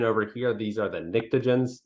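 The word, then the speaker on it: pnictogens: here these are the nictogens so the p is silent so um you know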